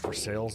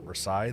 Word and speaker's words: Versailles: By the way, it is pronounced Versailles, not Versailles.